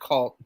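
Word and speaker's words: Khalt: Sabo and Co, I don't know how you pronounce their name. Is it X-Call? X-Call. X-Call? K-H-A-L-T, Cult.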